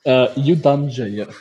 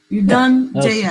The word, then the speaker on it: Yudhanjaya: First word, three syllables. It's Yudhanjaya. Yudhanjaya.